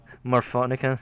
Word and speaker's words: Morphonica: about this last week morphonica right is what we agreed to have we pronounced morphonica yeah man i am